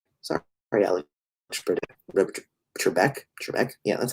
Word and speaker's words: Trebek: oh sorry sorry sorry i look pretty trebek trebek yeah that's how you say it um hey